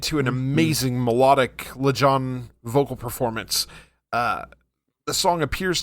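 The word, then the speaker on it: Lajon: LeJohn.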